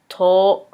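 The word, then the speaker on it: とお: 10 is to. To. Now you have to make sure to pronounce, the O sound, because when you're ordering something, the word for and is to.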